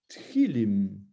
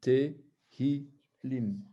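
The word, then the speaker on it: תהילים: mets pas le point, on pourrait être tenté de dire Tchilim. Puisque le Tav, non, le Sheva, on pourrait dire que c'est un E muet. Or, ici, il n'est pas muet, il est bien prononcé, c'est un Tehilim.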